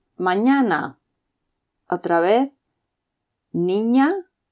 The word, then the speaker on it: niña: the Spanish alphabet and is pronounced like ni in onion. So, niña y niño. O mañana. Otra vez, niña y niño.